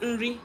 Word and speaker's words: nri: It's actually nni for our side, but it's pronounced nri as well.